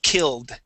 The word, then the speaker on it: killed: uh for example uh when we have a word that ends with an L okay we pronounce the Ed like a d this word is killed killed okay give me a D sound instead of a t we want a d killed killed okay getting